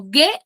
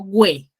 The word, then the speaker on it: gue: en la primera sílaba, ¿yo digo gue o yo digo güe? Ge. Gue. Entonces, ¿qué vocal nada más está sonando? La E. La N. Solamente la E.